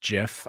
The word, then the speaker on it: GIF: And yes, it is pronounced GIF.